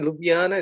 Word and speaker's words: Ljubljana: lj-u-b-i-a-n-a to be honor I think just the pronounce j is why and you'll be you'll get the pronunciation right imagine Jay is why and then it's much easier it's it's like a bit like the Dutch and German pronunciation a bit like that the way they pronounce Slavic okay yes so yeah your